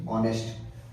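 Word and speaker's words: honest: ऑनेस्ट आप ध्यान रखेंगे ह साइलेंट है ओ यानी ऑनेस्ट ऑनेस्टली ईमानदार मजबूत मजबूत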